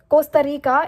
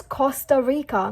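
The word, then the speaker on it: Costa Rica: I mean it इज़ नॉट कोस्टा रिका, इट्स कोस्टा रिका.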